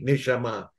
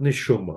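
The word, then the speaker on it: נשמה: I didn't hear that in a Hebrew, in a modern Hebrew way, neshama, but neshuma.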